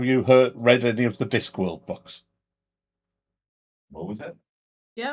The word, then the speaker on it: Discworld: I thought you said Discwill to rhyme with NyQuil. Discworld.